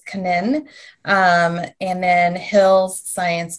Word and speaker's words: Canin: um royal canin or royal canaan is how we americans say it but it's a french company so it's kanin um and then hill's